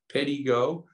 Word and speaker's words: Pedego: Pedego, P-E-D-E-G-O, Pedego. It's pronounced Pedego.